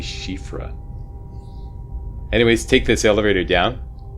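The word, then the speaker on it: Siofra: your way into this this shfa or shifra riverwell I've been told two different ways to pronounce this um I think it's officially shifra anyways take this elevator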